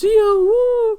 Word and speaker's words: Zi-O: So yeah, despite this movie being a G-O-V cinema, woo, you said Zi-O right, it's pronounced Zi-O, woo, a series infamous for not making too much sense in multiple aspects, this movie makes a lot of sense actually.